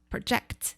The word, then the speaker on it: project: 그래서 예상하다, 예측하다 이런 뜻일 때는 강세가 뒤로 가요. project 이렇게 가요.